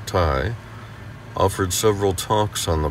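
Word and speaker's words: Thầy: us in our explorations thai an informal title for the teacher pronounced tai offered several talks on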